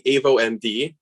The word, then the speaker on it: avoMD: uh i'll be presenting avo md is uh the way to pronounce it and we're the next